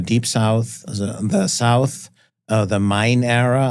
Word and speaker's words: Main: So we have the Deep South, the South, the Main era. I pronounce it Main because it's named after the German river of Main.